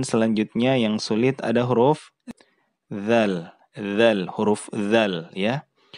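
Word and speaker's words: ذال: Huruf dzal itu ujung lidah kita itu diletakkan di antara gigi atas dan gigi bawah. Kemudian diucapkan tanpa ada terdengar suara udara ya. Jadi ini juga jahar. Dzal ya, dzal.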